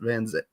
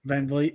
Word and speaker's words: Van Vliet: I think it was Chris Van Zet. Is that how you say his name? Van Vliet.